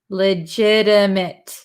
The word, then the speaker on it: legitimate: a floppy legit mitt mitt we don't say mate legitimate legitimate so legitimate if